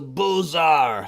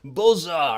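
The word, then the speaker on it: Beaux-Arts: modernism this is the bozar style of architecture i think i'm missing a button here okay bozar i always pronounce it with the highfalutin french pronunciation and i just realized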